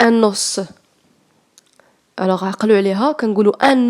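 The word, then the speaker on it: os: سوليديتي دي زو، سوليديتي يعني لي زو هما العظام، كتكتب لكم او اس كتنطق دي او، فاهمين؟ العظام هما دي زو، وواحد العظم كيتنطق ان نوس.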